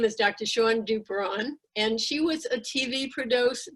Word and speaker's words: Duperon: Duperon rhymes with Sharon. Duperon, right?